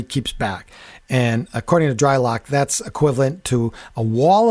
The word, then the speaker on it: Drylok: So go to Dry Lock, and that's spelled DRYLOK. There's no C, Dry Lock.